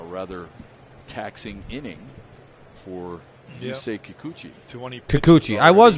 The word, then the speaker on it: Kikuchi: it's become a rather taxing inning for you kikuchi kikuchi i was right i i was saying it right i said it right the first time i said it kikuchi took home all eight pizzas and four crazies